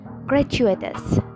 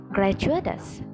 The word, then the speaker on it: gratuitous: We can pronounce it as gratuitous, gratuitous in British English, and gratuitous, gratuitous in American English.